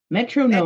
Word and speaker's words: metronome: think Garden you know you could think of like a garden gnome so it's like Metro like like Park like like the Metro Parks bus like Metro and then gnome like a garden gnome Metro gnome metro metro gnome okay Metro